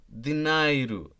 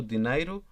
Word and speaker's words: dinheiro: Caneta, dinheiro, dinheiro, be careful on its pronunciation.